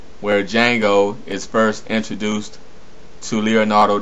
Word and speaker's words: Django: and that fighting scene where the D is silent, where Django is first introduced to Leonardo DiCaprio.